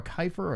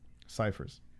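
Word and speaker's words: Cifers: Barber versus, is it Cypher or Kiefer or Kiffer?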